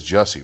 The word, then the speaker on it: Jussie: the charge charges just it is jesse right j-u-s-s-i i've heard it yeah i've heard that it's jesse but it said jesse okay the d is silent but you know that